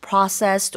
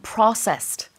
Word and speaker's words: process: that 그죠 여기 발음은 북미에서는 선처럼 process 이런 발음이 있어요 process 근데 영국에서는 보통 process 그래서 O 발음에 좀 더 가깝습니다 가공 식품이라는 뜻이 되겠습니다